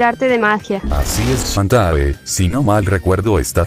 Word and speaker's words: Shantae: Espera, me faltó decirte de que mi nombre lo pronunciaste mal. Mi nombre es Shantae, no Shantae.